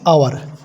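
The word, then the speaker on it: hour: পাচ্ছে, silent word, তাহলে এখানে কিন্তু এইচের সাউন্ডটা আসছে না, অর্থাৎ শব্দটা আসছে না, ডাইরেক্ট ও উচ্চারণটা আসছে বা শব্দটা আসছে।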